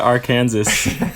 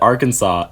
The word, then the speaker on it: Arkansas: saying it wrong I just like that Arkansas and Kansas like they're so similar words felt the same right and yet they're pronounced completely differently so thank you English language I were setting me up for failure I've been to Arkansas